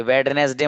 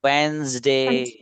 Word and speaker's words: Wednesday: जी, ये वेडनेसडे मत बोलना इसको बच्चों. This the correct pronunciation of this word is Wednesday. वेंसडे.